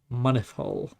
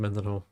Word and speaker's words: Mynyddhaul: So, it's pronounced Mynydd, Mynyddhaul. There you go. I pronounce it Mynyddhaul.